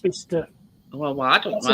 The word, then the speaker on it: Bicester: It's pronounced Bicester.